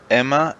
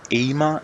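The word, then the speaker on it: Aemma: First, Emma Arryn, or Aema Arryn, depending on how you pronounce it.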